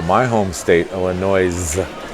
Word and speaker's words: Illinois: Most of whom call my home state Illinois, which has a silent S on the end. I would never pronounce Illinois.